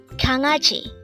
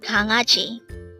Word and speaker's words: 강아지: 강아지. Again, 강아지. This is pronounced as a three-syllable word. The first syllable is 강, second syllable is a, and third syllable is ji. Pronounce it with me. 강아지, 강아지.